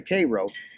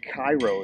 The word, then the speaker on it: Cairo: cities along the missis mississippi this is the k row which you might refer to as cairo if you see it but it's pronounced cairo now we're going to discuss the